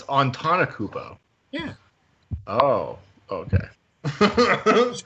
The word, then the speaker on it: Antetokounmpo: I keep saying Antetokounmpo. He's Giannis Antetokounmpo. Antetokounmpo? There you go. Oh, it's Antetokounmpo.